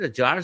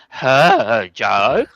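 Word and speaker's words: Hadjar: No, not was it a jar starting from the pit? No, it was uh a yes second. So they I think you'll find that's pronounced her jar.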